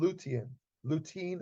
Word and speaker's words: lutein: But now, just to single out one particular nutrient, there's a nutrient called lutein or lutein, depending on how you pronounce it.